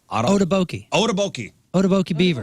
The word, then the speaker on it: Otoboke Beaver: So you got the openers, Octoboke Beaver and Iron Tom. Those are the openers. How would you say that? How do I say what? How do you say opener? Otoboke Beaver. I was way off.